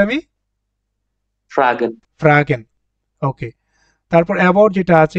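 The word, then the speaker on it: fragen: এটাকে ডজে বলে আমাদের ফ্রাগেন ফ্রাগেন কি বললাম উচ্চারণটা আমি ফ্রাগেন ওকে তারপর এবাউট যেটা আছে এটাকে বলে নাক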